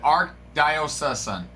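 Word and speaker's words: archdiocese: Arch diosis. I did. The pronunciation said arc diosis.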